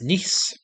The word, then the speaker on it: Nice: This city's furniture store is pronounced like your brother's daughter. What is Nice?